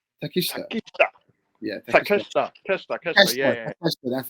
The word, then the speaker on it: Takeshita: How you pronounce his name? Takeshita.